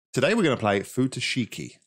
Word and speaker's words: Futoshiki: we're going to play futashiki i think is the way you pronounce that which is a